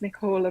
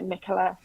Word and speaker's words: Nicola: I know in America it's usually pronounced Nicola, but yeah, Nicola.